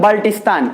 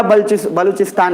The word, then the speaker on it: बलूचिस्तान: तो इसको बहुत लोग बोलते हैं बल्टिस्तान, वो मत समझिएगा, अभी सीधा बलूचिस्तान रखिएगा।